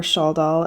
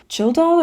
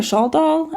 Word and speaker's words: Kaldal: Or at least that's how Karl himself pronounced his last name, was apparently Childal or Schaldal. My Swedish isn't great, but I do know K's can pronounce like SH or CH sometimes.